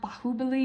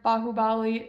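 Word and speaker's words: Baahubali: Um, I think it's actually pronounced Bahubali because that's how they're saying the name in Hindi.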